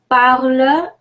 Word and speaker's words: parles: Parle, I don't have much to say here. The only thing, the final S is silent, like our rule of thumb.